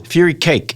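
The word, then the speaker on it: furikake: cakes with cabbage and fury kake. Can you do Nor McDonald? Fury cake. Fury cake is how you say that.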